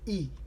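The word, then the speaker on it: いい: japanese yes that easy e e good so e or e a little bit longer e now weather is ortenki and we'll sound it out from the end to the beginning key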